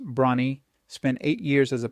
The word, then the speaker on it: Bronnie: Bronny wear pronounced Bronnie spent eight years as